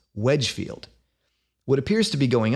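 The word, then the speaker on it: Wednesfield: which looks like when's field but is actually pronounced Wedgefield what appears to be going on here is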